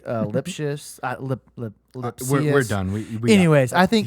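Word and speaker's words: Lipcius: So that's who I said his last name wrong. It's like Lipsius.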